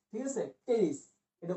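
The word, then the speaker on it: Pteris: উদ্ভিদ, এর নাম হচ্ছে টেরিস। টেরিস, ঠিক আছে, টেরিস। এটা উচ্চারণ কিন্তু পি উচ্চারণ হয় না। হ্যাঁ, ওই যে সাইকোলজি বানানোর মতো এখানে পি উচ্চারণ হয় না, টেরিস উচ্চারণ হবে।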